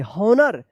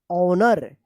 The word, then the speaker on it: honor: हॉनर नहीं, इसका उच्चारण होगा ऑनर। यहां पे भी एच जो है ना साइलेंट है।